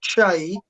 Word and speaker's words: Kyei: Yeah, I try to explain to people because, as you know, my surname, which is Kyei, and pronounced Che, is therefore unpronounceable in English.